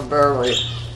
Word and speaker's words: Boehm: Boehm. Boehm. Okay. And then, It's pronounced a lot of ways.